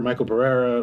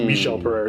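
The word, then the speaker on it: Michel Pereira: Like I've spar Johnny Walker, Michael Pereira, or I guess Michelle Pereira is how you say his name, but whatever.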